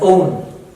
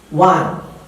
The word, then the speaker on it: one: the people or speakers in this continent would pronounce this word as own, and that's a wrong one, definitely. So what's the right pronunciation? That would be, it will look like that, kind of, one, okay, if it's clear, one, not own.